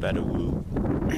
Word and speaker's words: Vedauwoo: go south to colorado this little campground bettawu i guess is how you say it is off of exit